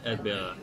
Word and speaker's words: Erdbeere: How do you say it? It's Erdbeere. Erdbeere.